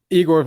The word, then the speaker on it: Igor: Igor, so it's actually pronounced Igor, but it's a common mistake.